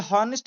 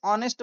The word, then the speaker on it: honest: यह हॉनेस्ट बिल्कुल नहीं है। इसे ऑनेस्ट बोला जाता है। यह साइलेंट है।